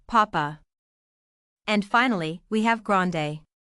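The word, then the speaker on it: papá: Notice the accent on the last A. That gives it a strong sound, papa.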